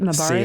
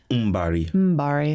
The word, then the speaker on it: Mbari: Do I pronounce it right? Mabari? Sela. Oh, Sela. Yes. Sela and Mabari? Mbari.